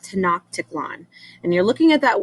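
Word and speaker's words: Tenochtitlan: was a city called to knock tickle on and you're looking at that word up there and you're thinking what the heck how do you say it's to not tickle on and it was it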